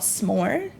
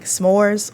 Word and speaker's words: S'more: this app is called s'more all right I'm going to pause real quick because I kept saying the app name wrong I kept saying saying s'mores or sores and it's basically like sore it's very simple but